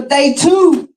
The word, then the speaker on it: Day Two: Y'all give it up for Day two. Hello guys, my name is Day Two, pronounced like day two.